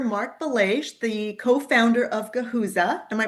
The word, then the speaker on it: Guhuza: I have here Marc Belaiche, the co-founder of Guhuza. Am I pronouncing that correctly there, Mark? That's right, Guhuza.